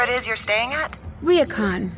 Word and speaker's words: ryokan: pronounced Ryokan.